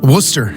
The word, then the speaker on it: Worcester: Leanne lives in Worcester.